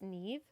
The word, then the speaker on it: Niamh: This is the Neve sweater scarf. It's an Irish name, so it will be spelled I believe N A I M H. It's pronounced Neve.